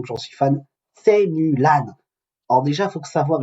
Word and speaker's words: Mulan: décidé de baptiser Mulan, on prononce en chinois Mulan, comme s'il y avait un O devant le U. Nous on dit Mulan, hein, c'est la version française.